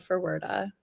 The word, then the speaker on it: Ferwerda: My name's Ferwerda. Awesome. Okay, Ferwerda.